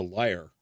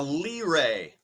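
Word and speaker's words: lyre: don't know it's a liar I love see see I didn't a liar l-y-r-e a Lee Ray no it's pronounced I'm gonna call it a Lee Ray well then again you'd be wrong that's okay though okay you're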